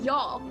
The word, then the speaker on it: y'all: you know like so you like y'all is one syllable instead of you all is two syllables so maybe it's not